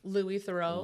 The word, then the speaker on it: Louis Theroux: How do you pronounce his name? Louis Thorough.